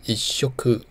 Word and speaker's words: いっしょく: 一餐的读音是 ichoku，是因为 ichoku 是属于沙行的字，所以遇到一这个数字会产生促音。